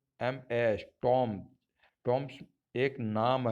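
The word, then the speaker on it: Thames: Fourth है, कई बार टी H Hindi का अक्षर ट की ध्वनि देता है। जैसे टी ए एम ई S, terms, मतलब एक नदी का नाम है।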